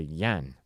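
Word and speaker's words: yuan: trying to go to the Yen right is that the one yeah y-u-a-n yeah the Chinese one that's okay yeah I mean you could pronounce it either way it's all it's all the same thing so yeah I mean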